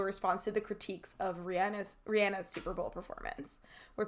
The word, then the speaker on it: Rihanna: name is it yeah it's Rihanna according to Rihanna it's I swear pronunciation yeah look I'm texting this to you okay well you know I have a special bond with I I don't think I could say Rihanna it's Rihanna that's how you say her name okay we were born